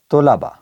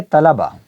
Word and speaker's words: طلبہ: ٹھیک ہیں۔ یہ ہے طلبہ اور یہ ہے طلبہ، تلفظ کا فرق۔ سب سے اہم بات